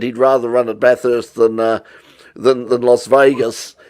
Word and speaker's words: Bathurst: least they don't at least at least they pronounce bathurst properly unlike uh unlike jeremy clarkson come on bar first residence this was really exciting where did one